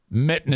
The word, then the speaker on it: mitten: that's too much Mitten Mitten is how you say that on Mitten there's two T's one of the t's is silent on Fulton it's there